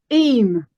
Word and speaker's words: Eyam: This is the village of Eyam. Is it Eyam? Eyam. Eyam. So it's kind of, although it's spelled Eyam, but it's actually pronounced more like double E-M.